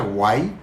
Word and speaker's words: Huay: El caso es que se pronuncia Guay Guay como cuando te asustan y dicen Guay aquí en Yucatán Es